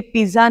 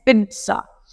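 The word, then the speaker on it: pizza: ये पिज्जा नहीं है, इट्स पिज्जा, सो it's spoken as पिज्जा, पिज्जा। पहले वाले ज को हम क्या कर देंगे, ट, और ये वाला ज, पिज्जा।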